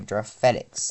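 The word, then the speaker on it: João Félix: Sorry, Giraffe Felix. That's his name. Uh that's how it's pronounced according to him.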